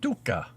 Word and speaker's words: tuhka: And that is Finnish. They say tuka.